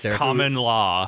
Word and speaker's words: Carmen LA: It's Carmen Sandiego and she had her was a twin sister, Carmen Law, who is from L.A. Carmen, it LA. Was Carmen L.A. Yeah, and pronounced Carmen Law, pronounced, but the police, common law.